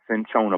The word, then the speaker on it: cinchona: How you spell that? CINCHONA, cinchona bark.